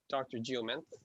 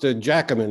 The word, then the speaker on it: Giacomin: Geoment. I prefer. It's actually pronounced Giacomin. It's a Northern Italian name.